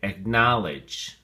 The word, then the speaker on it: acknowledge: look at your flashcard acknowledge has three syllables and the emphasis or stress is on the second syllable now so we say acknowledged acknowledged we have three definitions